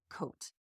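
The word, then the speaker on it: Côtes: c o t s is pronounced coat so that's true and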